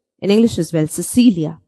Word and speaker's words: Cecilia: When C, the alphabet C is before E and I, it has the soft C sound. Let's look at two words. Cecilia.